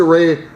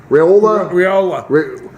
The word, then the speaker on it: Raiola: Raiola. Raiola.